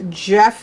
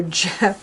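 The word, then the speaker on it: Gef: I'm sorry no and it's pronounced Jeff like a j so Jeff hello Jeff Jeff is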